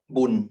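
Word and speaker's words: บุญ: other word uh uh Boon which is uh the Thai pronunciation of punya may be added as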